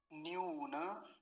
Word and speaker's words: न्यून: हिंदी में इस शब्द को क्या बोलते हैं, न्यून बोलते हैं, लेकिन ये न्यून नहीं है, ये क्या है, न्यून। ये वाला जो नकार है, इसको आधा नहीं करेंगे।